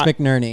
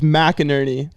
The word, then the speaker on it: McNerney: to do it because it's McNerney yeah okay because my last name is mcinerney I'm missing the letter but that's what makes